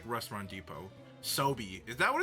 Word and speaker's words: SoBe: Sobe. Is that what it's pronounced? Sobe? It's not Sob or Sobe? I said Sob. I sometimes say Sob because I thought the E was silent.